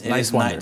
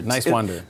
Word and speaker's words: Niswander: Talking to Dan Nowman, Niswander. But it's Niswander. Distinct nice and wander. Niswander.